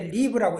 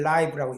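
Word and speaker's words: live: 구분해서 아이를 줘야 되는데 이분은 내가 살까 이러는 의미 때 리브라고 읽고 라이브라는 거는 우리가 사암 인생 그런 의미를 읽을 때는 라이브라고 읽어요 한국말도 그런게 있잖아 누가 돌아가셔서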